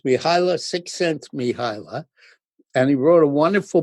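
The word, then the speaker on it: Mihaly Csikszentmihalyi: cent miila six miila his first name is miila so it's miila sixense miila and he wrote a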